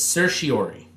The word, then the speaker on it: certiorari: and I'm not going to ask you to pronounce it, but it's certiorari.